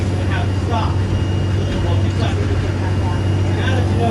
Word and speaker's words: Louisville: So if any of you all say Louisville, you're pronouncing it the correct way, just not the local way.